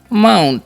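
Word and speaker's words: mount: हमारा वर्ड क्या है एम ओ यू एनटी तो इसे हम पढ़ते हैं माउंट ठीक है यहां पर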